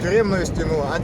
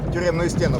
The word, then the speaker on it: тюремную: И дети получают свой первый опыт негативный в жизни, имея граничащей стеной западной тюремную стену, а на ней они рисуют граффити. Тюремную стену, поправляюсь, ударение.